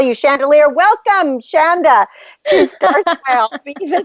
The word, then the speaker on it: Chanda: yourself last week and you say her name like chandelier so if I say it wrong I keep calling it wrong but it's chandelier I'm going to just call you chandelier welcome Shanda to Star SM be